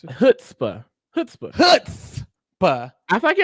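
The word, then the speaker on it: chutzpah: Hookstaba. No, why you say hoots? Why you say hoots? That's what he said. That's what he said. Okay. It's hootsba.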